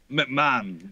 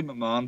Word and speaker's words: McMahon: And they normally say it like the wrestling guy. So, but like McMahon. I mean, I would say McMahon, but I'm happy with either.